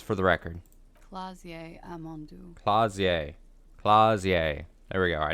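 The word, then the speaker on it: Klaasje: Clausier. Clausier. There we go. I needed that because I was not pronouncing it correctly.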